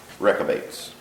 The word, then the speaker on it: Rechabites: 61 obedience of the wreck of eights or Ricca bites I looked up the pronunciation of that and is I believe it's closer to wreck of eights so what was last